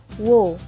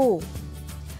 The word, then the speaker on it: who: penjelasan selanjutnya ada Uh banyak sekali yang mispronounce Who ini menjadi Wow padahal cara pengucapannya adalah hi hu Boy sample Who is